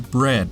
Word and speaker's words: bread: However, the vowel combination “ea” is pronounced differently in the two words. The correct pronunciations of these two words are /rid/, /brɛd/, respectively. read /rid/ versus bread /brɛd/ Yeah, that’s right!